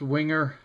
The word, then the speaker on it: Wenger: And just as a note, so I don't get a whole bunch of ugly emails, the company name is actually pronounced Wenger.